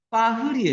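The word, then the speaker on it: Paris: 왜? S를 발음 안 해요. 프랑스 말이 끝에 S는 발음 안 해요. 파리 바게트예요. 파흐리에 있어요. R 발음이 히읗 발음이에요. 파흐리.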